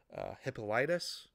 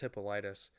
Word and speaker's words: Hippolytus: Also, if you look in early church history, I believe Tertullian, and I might be mispronouncing his name, Hippolytus, whichever, I think it's Hippolytus.